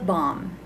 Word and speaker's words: balm: b climbing partner lip balm lip balm silent l lip balm guy lip